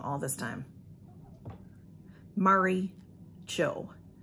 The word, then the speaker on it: Mari: It's Mari. So it's like Mary, but it's M-A-R-I. And a long time ago, I asked her how to say it, and she told me we typed back and forth, so I thought she told me Maury, but it's not, it's Mari.